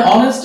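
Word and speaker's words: honest: এখানে এইচ এর উচ্চারণ কিন্তু এইচ হচ্ছে না, অনেস্ট আওয়ার, আর এখানে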